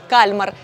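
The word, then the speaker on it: Kalmar: із елітарного дивізіону кальмар Так саме кальмар наголос на перший склад Ходімо дивитися перше що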